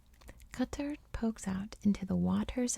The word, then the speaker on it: Qatar: portugal merhaba from qatar now in america we say katar but i've been practicing pronouncing it correctly cutter pokes out into the